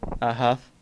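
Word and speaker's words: Hough: Huff. Huff? H-O-U-G-H. Okay. I will say Huff, but it's Huff. Huff. Yeah. That's pronounced H-U-F-F, right?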